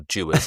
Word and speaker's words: Dewar's: So I had a bottle of Dewar's 12, or Dewar's as it's correctly pronounced, which I just found on the shelf round one of Maria's uncles.